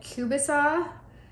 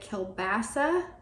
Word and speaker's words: kielbasa: this we used now here in Canada we call it kubasa I think that a lot of the United States pronounces at kielbasa but it is garlic